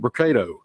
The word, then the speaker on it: Brocato: the podium today will be Hoover mayor Frank brocato spelled b-r-o-c-a-t-o and Hoover Police Chief Nick durzis spelled d-e-r-z-i-s you may also hear from Lieutenant